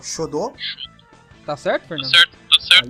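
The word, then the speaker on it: 書道: São, o Fernando pode me corrigir na pronúncia, mas eu vou tentar dizer aqui que é o Shodo.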